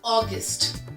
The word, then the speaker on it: August: तो the month is ऑगस्ट. इट्स ऑगस्ट. लास्ट में ट का साउंड है. ऑगस्ट. It is not August.